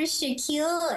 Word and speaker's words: Shakil: no worries I'm Dr Shaquille and yes it's pronounced like Shaquille O'Neal um I like to